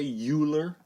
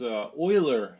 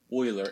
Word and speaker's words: Euler: it looks like you live but don't say Euler you'll sound stupid if you say Euler its Euler there's a German name so it's pronounced Euler anyway oiler was studying a problem this is not like